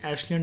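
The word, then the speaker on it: Acheulian: Late time period के एशलियन tools भी देखने को मिले थे। This word is known as एशलियन, ठीक है, एशुलियन करके ये लिखा होता है, लेकिन करेक्ट प्रोनाउंसिएशन इज एशलियन टूल्स।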